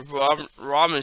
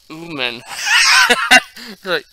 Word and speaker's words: ramen: It says ramen, not umen. ramen.